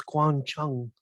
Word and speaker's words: Guang Chung: The software engineer one of the software engineers out of Bellevue, and I thought it was Guang Chung, not Chang. Chung.